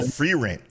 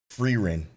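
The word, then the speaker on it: Frieren: to find it nope oh free rent is pronounced free rent I hate that free Rin I hate it so much okay I can't even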